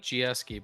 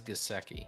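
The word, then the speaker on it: Gesicki: that's just my opinion i like gsky but i think it is gaseki you know me you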